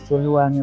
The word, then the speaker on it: Toluwani: My name is Toluwani, like my Nigerian people who knows how to pronounce that name will call me, but you can call me.